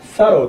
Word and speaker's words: thorough: かと思いますが、サローと発音しますね。